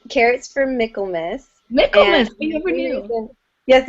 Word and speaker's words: Michaelmas: All right, how about next up, Haley from Carrots for Michaelmas. Did I say that right? Close. It's Carrots for Michaelmas.